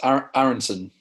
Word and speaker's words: Aaronson: aaron how did you pronounce it am i pronouncing it wrong yes aaronson so yeah where's that come from it's from